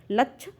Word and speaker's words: लक्ष: रूप में लक्ष का लक्ष कहा जाता है लक्ष इस छ का प्रोनंसिएशन कंठ और मूर्धन्य से होता है ध्यान रखिएगा यह जो